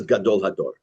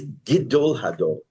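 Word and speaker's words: גדול הדור: The Mishnah Berurah says is, by the way, it's not pronounced Gadol. Everyone says Gadol Hador, the greatest person of the generation, right? The greatest rabbi. It's Gidol Hador. It's smichut.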